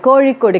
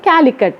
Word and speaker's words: கோழிக்கோடு: தமிழ வந்து தமிழ் அப்படின்னு பண்ணிட்டாங்க பழனி பழனி இப்ப கோழிக்கோடு கேரளாவில உள்ள மாநகரம் அதுல வந்து காலிக்கட் அப்படின்னு அவங்க வந்து அவங்களால உச்சரிக்க முடியாதல்லாம்